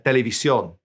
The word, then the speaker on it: televisión: La televisión. We write the accent, we stress it when we say it.